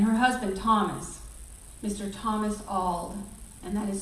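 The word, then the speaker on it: Auld: daughter Lucretia and her husband Thomas Mr Thomas ald and that is spelled a-u-l-d and for the next two years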